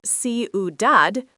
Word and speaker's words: ciudad: Ciudad, phát âm là see-oo-DAHD, nghĩa là thành phố.